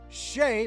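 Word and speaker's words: Shai: this dude this dude Shay by the by the way that's how you say it Shay gilgas Alexander is a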